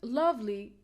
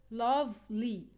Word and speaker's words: lovely: on the first syllable for the word lovely we said we put the stress on the first syllable because we have a short e sound in the second syllable yeah it's correct because